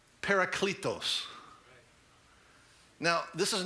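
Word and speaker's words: παράκλητος: the word helper there it's a word in the greek language that's pronounced paracletos now this is not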